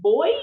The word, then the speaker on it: Beuys: name and is it boys? I was I was calling it like like boys and girls. You pronounce it like boys and girls, but it's spelled B Us.